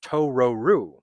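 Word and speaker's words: トロル: mispronounces the word troll which is actually pronounced as tororu and what's interesting is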